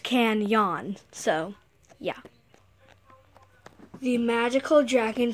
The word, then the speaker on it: Kanyon: law seasons and stuff it's going to be pronounced can yawn so yeah the magical